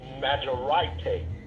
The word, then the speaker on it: majorité: Now, one thing I talked about was the word majority comes from a French word that's pronounced majorité, which means state or condition of being greater or superior.